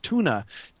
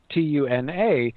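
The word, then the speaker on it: Túna: is on, which is Tuna, Tuna, and even puts the stress on the U so that sometimes people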